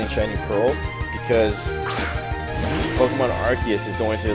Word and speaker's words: Arceus: I'm finally saying the name right. Let's call it Arceus or whatever, but Arceus. I'm saying it right.